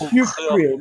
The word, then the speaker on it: Hukill: Yes, we need to speak to Mother Hukill. How do you say this? Nailed it. That was it. Spot on. It's Hukill, but you did quite well.